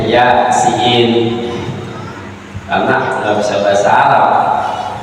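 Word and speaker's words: يس: begitu Yasin Thaha begitu jangan dibacanya ya Sah jangan jarang baca terjemah bacanya Ya siin karena enggak bisa Bahasa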